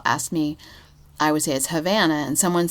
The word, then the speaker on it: Havana: said yes that's because it's Havana but it's not spelled like Havana Cuba it's spelled like Savannah Georgia right so now every